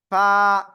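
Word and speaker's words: ف: নিচে ঠোঁটের পেট, উপরে 2 দাঁতের আগায় লাগান, লাগিয়ে হালকা বাতাস বের করে আপনাকে এক আলিফটা নিয়ে উচ্চারণ করতে হবে এই অক্ষরটা। তাহলে এই অক্ষরটা কি হবে? ফা ফা এক আলিফ টান হবে, কয় আলিফ?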